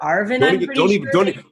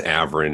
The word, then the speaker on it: Avrin: heart for saying that molasses is averin it's a V Rin and those tricky little